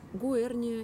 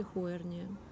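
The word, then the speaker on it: Huernia: Здесь у меня гуэрния или хуэрния. Как по-английски пишется, знаю, или по-латински, а по-русски два варианта его произношения.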